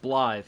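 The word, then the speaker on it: Blaidd: versus how it's pronounced in like the case of blithe here uh with the double d's being pronounced as a th long time friend life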